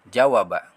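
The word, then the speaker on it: جَوَبَ: Kemudian di sini ada huruf jim berharokat fathah, waw berharokat fathah, huruf ba berharokat fathah. Ketika disambung seperti ini bentuknya, dan dibacanya adalah jawaba, jawaba, jawaba, jawaba.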